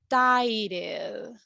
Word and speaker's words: tired: Do you feel vibration? Yes. Yes. So we are going to pronounce it as a D.